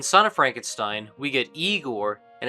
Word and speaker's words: Igor: in the form of Igor, who even addresses the problem of movie-going misconstructions with one simple joke. You must be Igor. No, it's pronounced Igor.